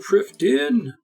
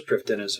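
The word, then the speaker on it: Prifddinas: New to Priv Din!" Okay, that's how you talk. I thought it was Priv Dennis whenever I read it, but it's Welsh, so you roll a die, and then you consult a actuarial table.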